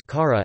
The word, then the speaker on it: खरं: Karam true despite the anuswara is pronounced as kara, as the anusara in this case is used to avoid schwa deletion in pronunciation since most other languages using Devanagari show schwa deletion in pronunciation despite the presence of schwa in the written spelling.